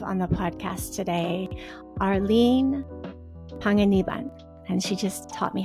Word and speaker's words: Panganiban: I'm really happy to have on the podcast today Arlene Panganiban and she just taught me how to say her name in the correct Filipino way.